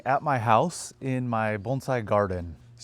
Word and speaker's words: bonsai: Um well first off so bonsai which a lot of people call it bonsai in uh the United States but the cor correct pronunciation is bonesai uh like bone sai and essentially it just means a tree in a pot.